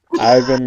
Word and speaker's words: Ivan: Ivan, and it's spelled Pikel, but it's Ivan and Pickle.